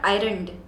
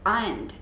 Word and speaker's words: ironed: not pressed so like the word is not ironed it's ironed okay or iron or you should iron your clothes and it's iron not iron okay another one that